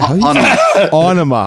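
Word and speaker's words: Ænima: How do you Onema. Oh, thanks for telling us how to pronounce that.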